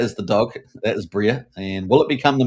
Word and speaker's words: Briar: But we've got little pictures of Bria, the dog. Now it's spelled Briar, but it's actually pronounced Bria.